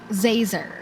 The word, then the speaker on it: Zazer: It's Professor Oh, Zazer. Okay, got it. Like laser. How hard is that? It's with a Z.